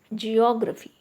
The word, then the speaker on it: geography: Geography. Geography. Okay. Here O is also acting as single syllable. Geography. Okay, so that's why the stress is on O.